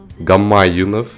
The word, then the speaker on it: Гамаюнов: Виктор Гамаюнов, ударение на второе.